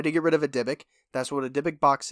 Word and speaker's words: dybbuk: Dybbuk is spelled D-Y-B-B-U-K. Dybbuk. I was Dybbuk. I had no idea what I was saying until I had to watch a video where I heard him say Dybbuk. And I was like... DIH/BIC, like the pen.